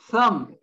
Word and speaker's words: thumb: is subtle silent b thumb we know what our thumb is silent b once again and finally succumb when